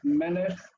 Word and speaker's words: melech: Example, melech is meh, lech. The structure is consonant vowel and consonant vowel consonant. Accent is on the first syllable in that way.